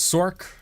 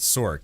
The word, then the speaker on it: Sorc: this, people were like, why do you pronounce it Sork? It's not Sorcerer, it's Sorcerer. I felt like most people were leaning towards pronouncing it Source. I think for me it's just more comfortable to pronounce it Sork. Like, I don't know. Source, it's not quite 2 syllables, but it's like 1.5, you know?